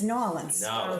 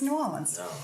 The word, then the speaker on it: New Orleans: orleans so and and i'm teaching zachary how to say it correctly i mean it's new orleans yeah it's new orleans and so um yeah